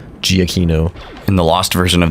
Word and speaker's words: Giacchino: robber you're supposed to say his name eggie eggie keno giacchino in the lost version of this episode we're